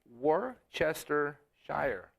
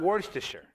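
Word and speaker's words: Worcestershire: of to be cool I always want to say it properly it's Worchester Shire sauce not warer even though that works too all right now the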